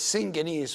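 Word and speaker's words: συγγενής: Okay, this second word here, syngenes, syngenes, although two gammas, also the first gamma would be an N, so it is syngenes, which means a relative or a relative to someone.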